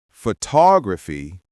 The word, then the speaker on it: photography: For example, we say photograph, stress on the first syllable, but photography, stress in the middle.